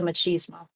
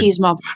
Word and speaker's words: machismo: with my dad, the whole thing with the machismo aspect. So yeah. Can you explain? You kind of cut out a little bit there as you said. How do you say that word? Machismo. Machismo.